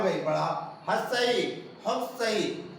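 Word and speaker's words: ह्रस्व: हर्षई, हर्षई है ना, बहुत सारे क्या बोलते हैं उच्चारण में, हर सही। ये उच्चारण बिल्कुल गलत है, हर सही नहीं होता है।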